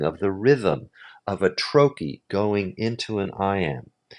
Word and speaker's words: trochee: That's called a troy. Rhymes with hokeyp pokey.